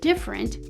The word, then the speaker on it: different: next we can notice the letter e is spelled but not pronounced it's what we call zeroed how do we know